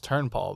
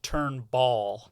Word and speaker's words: Turnpaugh: was going to say, if you look at how it's spelled, you will not pronounce it right. Turnpaugh. Yeah. That's pretty cool. I usually get Turnball.